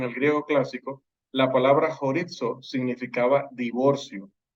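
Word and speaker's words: χωρίζω: La palabra traducida separe en el versículo 10 es la palabra horizo. Se pronuncia como una J y la Z como si fuera DZ. Horizo.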